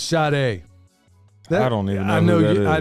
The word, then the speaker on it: Sade: hair always pulled back it's spelled s-a-d-e I guess you should man your mama named you Sadie I'ma call you Sadie he call it Sade all you want man